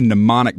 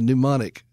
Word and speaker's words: mnemonic: That's a mnemonic device for y'all in McDuncan. It is indeed a mnemonic. And how do you spell that? K-N-O-O-M? No, it's M-N, like Johnny Mnemonic.